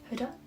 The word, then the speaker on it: Huda: also quite good i use um huda beauty hoda that's how you say it that is what